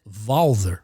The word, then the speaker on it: Walther: I know he's not anglicizing it, but he pronounces it Valer. I guess maybe Russian name. Valer. He does a W like a V.